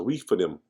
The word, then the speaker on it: Rephidim: Rephidim. Rephidim. That's how they pronounce it, Rephidim.